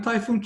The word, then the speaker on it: Tayfun: I'm Tayfun. My name is pronounced like typhoon, which means hurricane in the Southern Pacific.